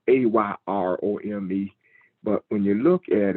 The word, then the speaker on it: erom: And it is spelled EROM. And when you look at EROM, it's pronounced AYROME.